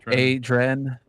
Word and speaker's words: Adren: I'm seeing Adrian ad adran is is how you pronounce coming from Russ all right com from adrenaline but that's the thing